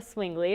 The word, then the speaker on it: Swingley: We have Deborah Swingley, is that how you pronounce it? That's correct.